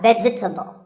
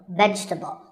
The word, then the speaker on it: vegetable: a lot is vegetable it's not vegetable if you say it correctly there are only three syllables veg vegetable let's talk about a couple